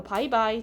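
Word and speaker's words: 拜拜: 그래서 바이바이, 잘가. 영어의 이 바이랑 발음이 비슷해서 그걸 합쳐서 바이바이라고 한다라는 거고요.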